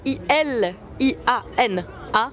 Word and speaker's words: Iliana: Donc c'est I L I A N A M S C. Je comme ça se prononce Iliana, c'est aussi simple que ça.